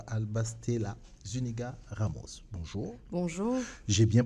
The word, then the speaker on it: Alba Stella Zuniga Ramos: real et donc je vais dire bonjour à albas stella zuniga ramos bonjour bonjour j'ai bien prononcer le nom ça déjà parfait merci merci